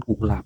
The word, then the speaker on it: กุหลาบ: นะ ครับ ต่อ ไป นะ ชื่อ ของ คณ กุหลาบ นะ ครับ ก ไก่ นะ ครับ หอ เหบ